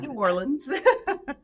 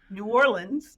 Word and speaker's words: New Orleans: from here New Orleans New Orleans not New Orleans locals say New Orleans New Orleans so you